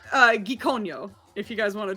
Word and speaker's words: Gikonyo: It's Gikonyo. If you guys want to try it. Oh, you pronounced that way differently this time. freaking way. We'll get our guest Give it- spellings in for Gikonyo.